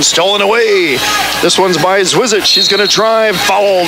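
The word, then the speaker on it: Zwirschitz: Name is spelled Z-W-I-R-S-C-H-I-T-Z. I'm told it's pronounced Zwizic.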